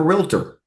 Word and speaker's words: realtor: No, no different than if you just called yourself a realtor. And in Tennessee, it's three syllables, folks. I mean, Nashville. Realtor is three syllables.